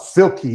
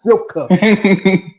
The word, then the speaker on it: Salika: They call it Silky. It's like I would say, You call her Silky. Oh, I know. Not Silka. Also, I saw that too.